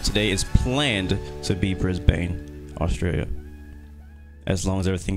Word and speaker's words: Brisbane: Brisbane, that's how you pronounce it? You guys pronounce things weird. Brisbane, that's so weird. Like, why is there a Bane in it if there's pronounced burn?